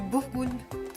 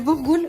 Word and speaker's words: boulgour: Et c'est quoi ça C'est du bourgoule fin. du boulgour? Du bourgoule fin. C'est Ça se prononce comme ça.